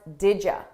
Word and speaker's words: did you: We pronounce this as didja, didja, didja. So I combine those sounds together and I take you and I change it to ya, didja, didja.